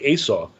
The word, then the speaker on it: Esau: He was full of hair, and the word Esav in Hebrew, it's almost like Esau, right?